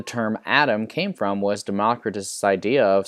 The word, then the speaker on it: Democritus: And it's spelled D-E-M-O-C-R-I-T-U-S.